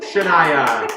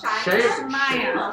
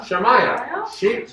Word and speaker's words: Shamaya: You want a shirt, Shania? Sheena. You know your name. I don't. It's SHYMIA. Shima? Shamaya. Shamaya. That's a very cool name.